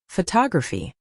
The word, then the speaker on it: photography: But photography is stressed on the second syllable, photography.